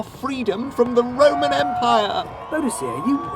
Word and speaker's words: Boudicca: It's pronounced Boudicca. Is it? It's not how it's written.